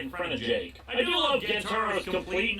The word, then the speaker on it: JK: instead greeted by a student named JK, pronounced Jake, who's willing to give him info if he gets info in return.